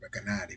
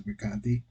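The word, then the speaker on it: Recanati: I've always pronounced it Rekanati, but okay, this is Rekanti.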